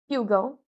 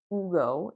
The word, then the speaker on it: Hugo: and a Ghost Whisperer Hugo American name Hugo cuz in Spanish it's Ugo and it's a no-